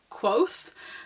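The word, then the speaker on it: Kvothe: pronounce his name properly think his name's cove off is that how you say his name it does say in the book that it was pronounced like quoth so I just thought maybe it's quoth but then I I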